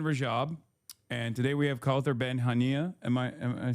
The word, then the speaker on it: Kaouther Ben Hania: So that's the voice of Hind Rajab, and today we have Kaouther Ben Hania.